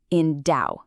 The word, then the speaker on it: endow: It's pronounced endow. You really want to put that verbal weight right there on the second syllable.